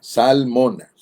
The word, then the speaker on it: Zalmona: Salmona. De esa manera la va a recordar, o también se va a acordar de la esposa del salmón. Solo que esta palabra se escribe con Z, salmona.